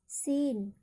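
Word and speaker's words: scene: देखिए, इसका रूल है कि शब्द के अंत में SCLE हो तो वहाँ पर सी का उच्चारण नहीं होता है। SCLE हो तो वहाँ पर सी का उच्चारण नहीं होगा।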